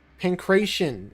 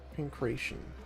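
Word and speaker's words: Pankration: Pancreation. Okay, that's how you say it. Pancreation.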